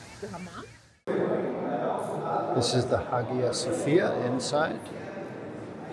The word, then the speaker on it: Hagia Sophia: Yes, Hagia Sophia.